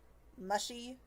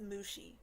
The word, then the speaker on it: Mushi: Lee and Mr um mushy is it the woman asks sounding unpleasant as she speaks off our aliases it's pronounced Mushi iro corrects the woman